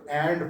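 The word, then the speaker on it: v.: नहीं पढ़ते this is for your information इसको एंड पढ़ते हैं हमेशा इसको एंड पढ़ते हैं या हम यहाँ पे वर्सेस इसलिए पढ़ते हैं कि अगले को पता लगे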